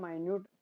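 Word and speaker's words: minute: Compact and माइन्यूट, ये मिनट नहीं है, इसको माइन्यूट प्रोनाउंस करते हैं हम जब डिमिन्यूटिव में इसके सिनोनिम्स को पढ़ते हैं तब।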